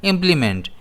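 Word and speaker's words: implement: इसे हम प्रोनाउंस करते हैं इंप्लीमेंट। इसमें स्ट्रेस आई पर रहता है।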